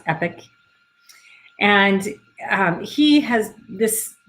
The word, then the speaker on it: Epoch: of epic lasers that's e-p-o-c-h but it's pronounced epic and um he has